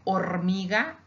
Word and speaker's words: hormiga: Like hormiga, ant, we spell it hormiga, and it has an H in the beginning. We ignore it. We just pronounce the O.